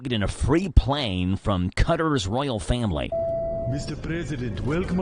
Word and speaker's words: Qatar: Hey, the country of Qatar I always pronounced it Qatar, but apparently it's Qatar.